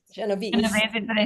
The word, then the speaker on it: Genovese: That's the American version.